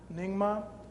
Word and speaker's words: Nyingma: After extensive training in, never been sure how to pronounce that word. Does anybody know? Nyingma.